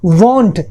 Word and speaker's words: won't: Will plus not, वॉन्ट, इसके भी spellings देख लीजिए अलग हो गए, WON लगा के T, राइट। फॉर एग्जाम्पल ही, और इसका जो प्रोनाउंसिएशन है ये देख लीजिए, this is वॉन्ट, वॉन्ट, वॉन्ट नहीं होता, दिस इज वॉन्ट, राइट।